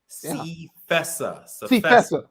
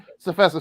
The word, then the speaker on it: CFESA: You said this, I think I'm pronouncing right. Is it CFESA? CFESA. Yeah. All right, CFESA.